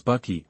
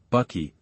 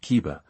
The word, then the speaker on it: Bucky: My name is Bucky. Bucky, not Ka. Don't pronounce other people's names wrong.